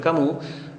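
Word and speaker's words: Camus: a ver Renault kamoud ese cabús se pronuncia cabús es este pensador francés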